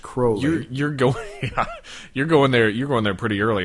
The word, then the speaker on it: Crowley: Oh, pronounced Crowley.